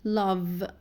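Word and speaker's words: love: اي وانتد وانتد تمام نفس الشيء في فعل اللاف اخره في هو طبعا هتقولوا لي اخره اي تمام بس الاي هنا سايلنت يعني مجرد منظرها مش اكتر فالنطق الاساسي عندي بقف فيه عند حرف الفي لاف فانا عايزه اقول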